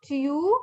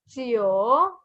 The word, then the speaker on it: jiu: As I told you before, the letter J makes the sound ch. Ch. So we say chio. Chio. Again, this is not chiu. It's chio.